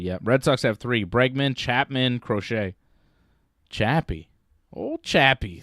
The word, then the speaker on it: Bregman: I know Bergman made it. Bregman.